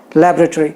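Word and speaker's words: laboratory: यूके वाले इसे कहते हैं लेबोरेटरी। ओके, लेबर, लेबर के जैसा लेबोर, लेबोरेटरी, simple लेबोरेटरी, लेबर के जैसा बोलते हैं वो लोग, है ना।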